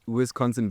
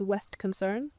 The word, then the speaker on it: Wisconsin: Um, when I was 18, I think, um, got my first horse, Wisconsin. What was the horse called? Her name is Eagles Wisconsin. Eagles Wisconsin. She was nicknamed Westy. Okay. Eagles Wisconsin. Wisconsin becomes Westy in um so we got her